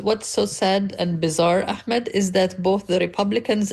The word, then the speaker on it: Ahmed: And my name is spelled Ahmed, by the way, not Akmed. There's no K sound in my name, but the H is like a hat.